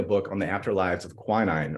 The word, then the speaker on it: quinine: on the afterlives of quinine or what some pronounce as queening queenies is an anti-malarial